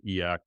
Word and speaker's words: e/acc: I would not consider myself eak is is actually like how you pronounce e Dash slac CCI certainly not e um but this is